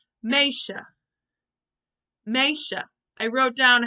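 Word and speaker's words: meisje: this word M e I SJ e is pronounced May maisha I wrote down how I would pronounce it underneath but this is the actual Dutch word maisha this means girl so girls you can say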